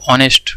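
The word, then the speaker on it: honest: Sound मतलब ऑनेस्ट, ऑनेस्ट को हम क्या लिखते हैं? ऑनेस्ट। ठीक है, इस तरह से प्रोनाउंस करते हैं, तो इसका मतलब ये है कि ये हमारा वोवेल साउंड कर रहा है, इसका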